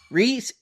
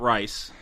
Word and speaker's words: Rhys: Okay. Yeah, not Rice. And then Is it Ifans or Ifans? Ifans. Rhys Ifans.